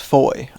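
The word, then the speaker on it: Fowey: No, the toilet is This town is spelt fou but pronounced foy and is my favorite town in Cornwall.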